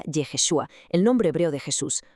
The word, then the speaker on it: Yeshua: letra Shin en medio, creando Y H S V H, que se pronunciaría Yeshua, el nombre hebreo de Jesús, una jugada maestra.